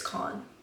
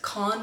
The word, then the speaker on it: Cannes: AA rise K con it's con I looked up the pronunciation it's AER rise con film festivals golden dath